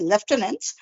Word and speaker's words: lieutenant: First, I'll say lie, and then you, and then tenant.